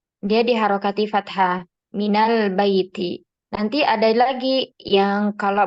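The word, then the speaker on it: من البيت: ini kita lanjutkan Nah di sini menjadi Minal Baiti karena ada huruf Min kemudian almasjidu almasjidu apabila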